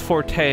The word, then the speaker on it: Forte: in the favor of like Forte like huray instead of Fort like pillow fort so if it's Forte I'll stick with it